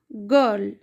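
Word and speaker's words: girl: पर मैट अ गर्ल आर का sound यहां पे आर गर्ल नहीं पढ़ेंगे हा गर्ल नहीं पढ़ेंगे गर्ल गर्ल आर का हल्का साउंड आएगा और आई का यहां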